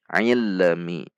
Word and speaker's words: ilmi: Kesalahan pada lam sukun juga sering memantul ilmi, ilmi. Jadi cara membacanya adalah tekan di titik lam, jangan dilepas sampai mengucapkan mi dengan menjaga sifat bainiyah dari huruf lam. Tidak dibaca panjang, tidak dibaca menghentak.